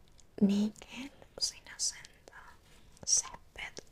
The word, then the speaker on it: césped: Césped, con acento en la E.